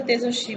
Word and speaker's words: তেজস্বী: তালব্যস্বয়ে বসন্ত, তালব্যস্বয়ে হস্যি, অর্থাৎ আমরা বানানটা এক কিন্তু উচ্চারণের বেলায় আমরা মনে হচ্ছে অন্য কোনো বর্ণের উচ্চারণ পাচ্ছি, অর্থাৎ তালব্যস্বয়ের উচ্চারণ পাচ্ছি।